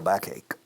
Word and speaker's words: backache: Oh my God, I have a terrible backache. Backache. Un dolor de espalda que me está matando. I have a terrible backache. ¿Cómo suena? Back, ache. Dos sonidos de K.